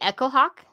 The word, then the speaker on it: Echohawk: Larry Echohawk? Larry Echohawk. Echohawk or Echohawk? It's all one word, I believe. It's like it's spelled like the word echo and the word hawk.